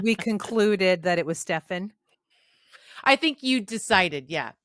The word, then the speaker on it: Stephen: sure it's Steven or is it Stefan? Well, you know what? It's spelled PH, so Uh-huh. it's probably Stefan.